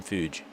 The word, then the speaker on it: Fuge: Luke, I think it's Fuji, I think how you say it. Fuge. Yeah, I'm going to leave that one to you. Fuge. Tim Fuge. It's like huge, but Fuge.